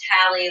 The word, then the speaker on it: Hallie: And yes, my running joke to explain to people how to pronounce my name is Hallie, like Halle Berry.